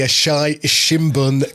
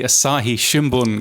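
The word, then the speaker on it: Asahi Shimbun: wish you had done this bit the the asai shimun company have jointly released a survey I tell you what yes let's go around the world and in Japan otonal and the Asahi Shimon company oh that's how you say it is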